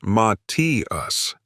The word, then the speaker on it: Matthias: It's pronounced Ma-T-us."